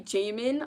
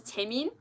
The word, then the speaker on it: Taemin: But the one I struggle with the most is Taemin, because I say Jaemin a lot, but it's Taemin. But I say Jaemin. I don't know why I say Taemin.